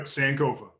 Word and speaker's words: Sankofa: That's how you pronounce it, right? I'm assuming. Yep, Sankofa.